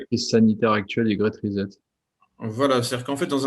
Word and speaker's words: Reset: C'est-à-dire effectivement au Great Reset, au Great Reset en fait, puisqu'il faut, c'est un S, c'est pas un Z.